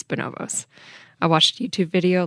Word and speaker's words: Bonobos: And I did actually look up how to pronounce that name, and it is Bonobos, not Bonobos, which I originally thought. It's Bonobos.